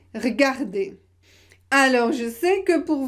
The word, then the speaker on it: regarder: Souvent, on le supprime à l'oral. Souvent, on ne le prononce pas à l'oral. Par exemple, regarder, vous pouvez prononcer regarder.